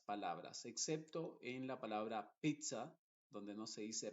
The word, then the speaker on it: pizza: excepto en la palabra Pizza donde no se dice Pizza sino que se dice pizza y mozzarella mozzarella te das cuenta ahí se dice con una t y una s mozzarella y pizza y